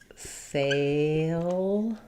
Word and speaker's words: failure: So in failure, we also have the y sound before that letter U. We have first syllable stress, letters A-I, say the A diphthong. So we have failure. Not really an oo here, not failure, but just failure.